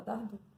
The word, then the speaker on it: Dardot: Se fala Dardot, se escreve Dardot, tá bom?